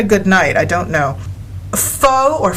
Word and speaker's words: pho: But every time I see it, they put a pronunciation thing in it, and they pronounce it pho, F-U-H.